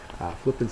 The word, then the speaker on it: flippant: Flippant's an adjective. It's got the first syllable accented, and it's lacking in seriousness or disrespectful.